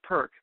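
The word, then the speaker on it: PR-K: uh version is called perk p r hyphen K just pronounce as one word it's the business version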